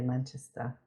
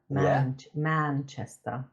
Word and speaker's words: Manchester: I like how Americans say Manchester. Manchester. Oh, they emphasize on the man.